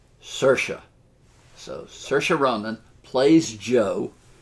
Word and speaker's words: Saoirse: name right Saoirse Roman I looked this up it said it rhymes with inertia Saoirse so Saoirse Ronan plays